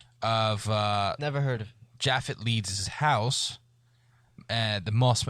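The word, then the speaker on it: Japheth: leads his husband uh jaffet Leeds I guess you would pronounce that as jaffet j a p h t that's jaffet wouldn't it uh I think so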